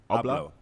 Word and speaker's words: Abloh: But this acquisition in particular was quite interesting because Virgil, how do you pronounce his surname? Abloh. All right, cool. Let's say Abloh.